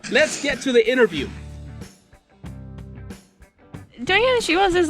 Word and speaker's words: Doña Ana: Yeah, that's yeah, Doña Ana She Wolves.